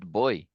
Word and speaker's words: buoy: Yes, but in English it's pronounced boy.